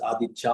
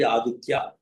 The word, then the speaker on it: Āditta: So in some places they say it's adicha also adita. So in some places they say but it is actually adita like like the quality of the sun that is burning always it is a flame.